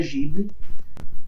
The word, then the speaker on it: Ghibli: E muita gente por aí também chama de Ghibli. Então, assim, é um apego emocional que eu não consigo desvencilhar, né? Mas eu sei que o nome se pronuncia Ghibli.